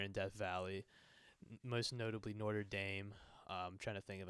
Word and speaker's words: Notre Dame: How do you say it? Notre. Notre. Like motor, but Notre.